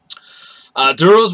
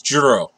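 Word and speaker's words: Djeru: Duros with eyes open. No, wait, this is Juro, because the D is silent, like the Django.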